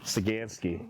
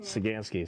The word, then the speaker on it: Saganski: What's pronounce it? Saganski. Saganski.